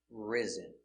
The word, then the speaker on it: rise: rose and the participle risen all words have s between two vowels pronunciation with a z zebra sound rise in the